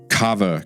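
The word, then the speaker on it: Kawa: And that's going to be Cava Coffee. That's spelled K A W A Cava Coffee.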